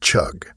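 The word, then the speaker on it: חוג: the Hebrew word used in this verse it's pronounced chug and it literally translates to Circle circuit or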